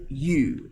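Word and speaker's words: ewe: right along mature female young female mature male castrated male offspring agricultural products so a mature female sheep is called a you okay just like saying that calling someone hey you it's pronounced you okay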